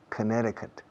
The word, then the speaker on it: Connecticut: Yeah, Connecticut. La C en medio no se pronuncia. Connecticut.